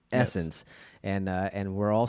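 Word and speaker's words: SSENSE: but if again s it's two s's s-s-e-n-s-e essence and uh and we're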